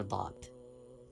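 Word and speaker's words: ض: Touch side of tongue with root of upper molars, right hand side or left hand side. Either way you can pronounce letter Dad.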